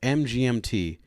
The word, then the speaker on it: MGMT: song Electric Feel So I always thought it was by MGMT turns out they their band is pronounced the management and she was like